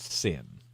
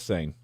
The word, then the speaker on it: Seine: I believe it's pronounced Sin. Well, when I looked it up, it was the pronunciation was S-A-Y-N. So, oh, well, maybe it is Seine.